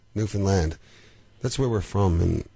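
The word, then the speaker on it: Newfoundland: the rhes are understand that's what we always say understand Newan land that's where we're from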